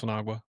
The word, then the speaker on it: Sinagua: And I was waiting for you to pronounce Sinagua.